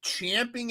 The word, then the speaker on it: champing: I know SPD is champing at the bit because I heard that's how you say it, not chomping at the bit to for us to talk about the the draft update.